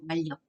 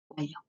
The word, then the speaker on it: 완력: 이게 닫힌 니은이 뒤에 오는 리을 때문에 리을로 발음돼요. 완력. 완력.